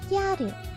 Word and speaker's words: gyaru: Are gals gyaru? Ah, exactly. So gyaru is the Japanese pronunciation of the word gal, G-A-L. That's how they pronounce gal, gyaru.